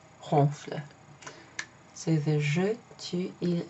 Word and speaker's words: ronfle: you just add ent, but you don't pronounce it. It's not ronflant, okay? It's ronfle.